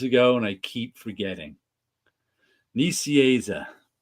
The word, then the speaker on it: Nicieza: And it's Nicieza is how he told me how to pronounce it. I learned how to pronounce it 30 years ago, and I keep forgetting. Nicieza.